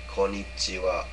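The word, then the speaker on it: こんにちは: And a lot of foreigners will have, a lot of Americans will have the tendency to say konnichiwa, or something to that effect. No, you shouldn't say it like that. Try to say it as cleanly, without any intonation as possible.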